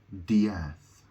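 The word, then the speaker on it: D'Eath: Diath, and it's spelled D, I think it's spelled D apostrophe EATH. So it looks like the word death, but it has an apostrophe after the D. So it's Dr. Diath.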